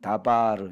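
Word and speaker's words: דבר: 뜨 발을 간 왔는데 원래 요드 바로 로 발음하지 않고 여기선 다바르 이렇게 발음 하거든요 에 이따 봐 주라고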